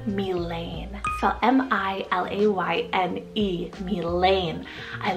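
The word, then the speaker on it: Milayne: way but it's the name milane fell m-i-l-a-y-n-e me Lane I like to kind of like Mila sound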